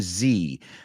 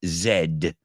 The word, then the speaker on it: Z: to young people and generation Zan generation Zed but Americans say Z to ask for help